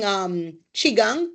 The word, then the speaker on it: qigong: Rashida, as cupping in your state, and using qigong. So qigong is spelled QI, then space GONG.